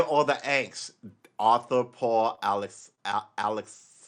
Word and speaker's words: Alexakis: Arthur Paul Alexakis. Alex, I always throw another syllable in there. Alex Kakis.